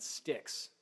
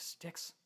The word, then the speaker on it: Styx: By the way, it's spelled S-T-Y-X. For those of you who don't know, you're never going to find it if you try spelling it the typical way.